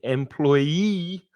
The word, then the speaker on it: employee: And employee, or let's go this way, employee has the stress on the final syllable, the 3rd syllable.